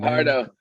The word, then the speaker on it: Fajardo: Fajardo. How is Fajardo. it? Fajardo. All right. Yeah, the J is silent.